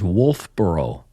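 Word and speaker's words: Wolfeboro: Uh it is Wolfboro. And it is not spelled like Burrow in the UK. It's B O R O.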